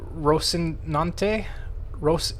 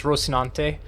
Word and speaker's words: Rocinante: And then, for a suicidal ship, since I'm the one who flies it most of the time, the Rocinante. That's how I think it's pronounced, is Rocinante.